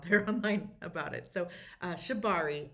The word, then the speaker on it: shibari: So, uh Shabari, S H I B A R I is how it's spelled and if you're interested in being tied